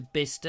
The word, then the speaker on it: Bicester: it's print it's spelt Bicester but it's actually pronounced bicester I've been to bister it's very nice and Bicester and there's a